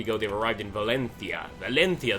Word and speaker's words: Valencia: they've arrived in Valencia Valencia that is the correct way to say it you know Valencia not Valencia um and we're going